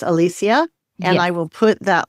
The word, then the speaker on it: Alicia: And it Yeah, it is spelled like Alicia or Alicia, but it's Alicia.